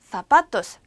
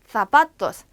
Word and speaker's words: zapatos: 그래서 쌍시옷 소리인데 zapatos, zapatos. 스페인에서 나는 쌍시옷 소리는 약간 발음을 th, 번데기 발음처럼 물어요. 그래서 zapatos. 이렇게 치아가 있으면 요 사이에 혀를 문다라는 식으로 zapatos라고 소리를 내고 중남미에 가면 zapatos라고 소리를 내기 때문에 둘 중에 원하시는 걸로